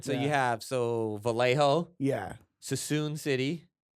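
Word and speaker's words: Suisun City: Sassoon City. So that's how you pronounce it. Yeah. I think City. so. It's not. I'm pretty sure it's Sassoon. Yeah.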